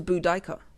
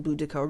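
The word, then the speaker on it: Boudica: another mother tongue to budika yes apparently we've been pronouncing budika wrong budika the iini queen of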